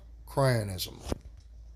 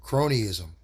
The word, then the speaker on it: cronyism: In concept it is similar to uh cryanism. Okay. What is cryanism? Uh cronyism. Cronyism. Okay. Cronyism. I'm sorry I mispronounced it.